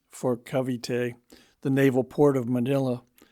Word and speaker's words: Cavite: such as saying Cavite for Cavite, the naval port of Manila, Capiz for Capiz, a town in Panay, and so on.